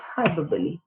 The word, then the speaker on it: hyperbole: Now you have to be careful with the pronunciation because the spelling is a little different, but the pronunciation is hyperbole.